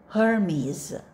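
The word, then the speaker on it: Hermes: know this well go Zeus zus next go hermies hermies let's read the next sentence go He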